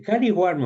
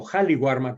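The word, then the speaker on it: Qali Warma: El Caliwarma o Jaliwarma, que así se pronuncia, es simplemente la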